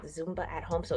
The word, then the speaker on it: Zumba: It's Zumba.